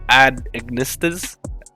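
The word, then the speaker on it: @Ignister: as the jelly baby deck i have trouble pronouncing this deck um it's became a kind of meme amongst my friends it's the ad ignistus oh got it right so yeah i'm gonna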